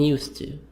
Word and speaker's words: used to: D is silent in used to. This one, D silent.